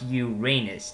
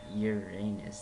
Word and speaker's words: Uranus: is uranus it's for seriously it's pronounced uranus not uranus that that doesn't really